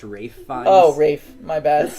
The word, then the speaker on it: Ralph Fiennes: Yo, didn't we find out the other day that his name is actually pronounced Rafe Fiennes?